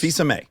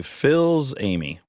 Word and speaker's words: Fils-Aimé: If I pronounced it phonetically, I'd say Phil's Amy. Throughout grade school, I was Phil's aim.